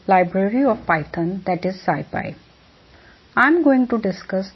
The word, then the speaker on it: SciPy: so let's get started scipy stands for scientific python and is bonused as sci-fi as already i am pronouncing scipy is a free